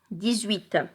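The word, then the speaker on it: dix-huit: Alors pour 18, on fait la liaison entre le X et le 8. Parce qu'on a le H muet et puis après, on a une voyelle, U, 18.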